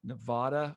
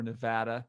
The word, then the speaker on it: Nevada: maryland massachusetts michigan mississippi nevada or nevada depending how you pronounce it i think there was